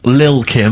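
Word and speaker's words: Lil' Kim: are you pronouncing it I'm pronouncing that correctly Lil Kim are no T's involved at least the jump off featuring mister chief I believe that's mr.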